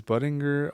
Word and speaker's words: Buttinger: It's Is Buttinger a hard G or a soft G?